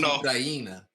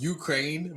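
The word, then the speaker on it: Україна: It's pronounced Ukraina. Okay. It's not. It is. Is it? Do you think it's pronounced Ukraine? Bro, you think in Ukraine they say, hey, welcome to Ukraine?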